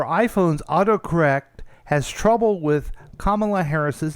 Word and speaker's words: Kamala: Kamala. Like like a comma.